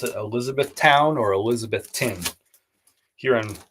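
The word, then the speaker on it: Elizabethtown: if they pronounce it Elizabeth Town or Elizabeth tin here in Carolina we would describe we would say elizabethon but I don't know how they say it in Kentucky anyway either way thank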